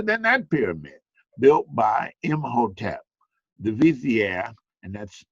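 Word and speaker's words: Imhotep: that pyramid built by M Hotel the Vizier and that's that's pronounced him hotel you see it up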